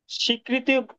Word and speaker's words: স্বীকৃত: চলে আসি 58 ধারা স্বীকৃতি স্বীকৃতি এটা একচুালি স্বীকৃতি না উচ্চারণটা হবে স্বীকৃত স্বীকৃত ঘটনা সমূহ প্রমাণ করার